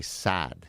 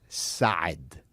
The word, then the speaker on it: Saad: my last name everybody all Americans will say sad you just extend the a but the proper way to say it it's God side sad right it's the high like Arnold like if Arnold was going to say it yes I was sort